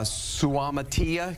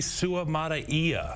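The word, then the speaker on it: Suamataia: does is it allows him to move uh sutia go ahead it's Kingsley Su Maia Su Maia there you go there you go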